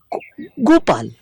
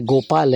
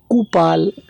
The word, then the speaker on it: गोपाल: किसी का नाम जैसे गोपाल है तो उनको नाम उच्चारण करने में तकलीफ होती है, तो बोलते थे गोपाल की जगह वो कुपाल, टूपाल, पोपाल।